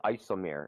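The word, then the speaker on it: IJsselmeer: Lake Isomere. It's in the Netherlands. It's IJSELLMEER or something. It's Netherlands. They spell it weird.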